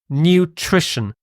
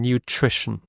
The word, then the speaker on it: nutrition: is the next word nutrition the pronunciation of this word is very tricky it's got three syllables new just sounds like the adjective new and this middle is